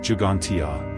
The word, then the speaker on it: Ġgantija: Gantia, pronounced Jugantia, meaning place of giants in Maltese, is a megalithic temple complex that predates Stonehenge and the Great Pyramid of Giza.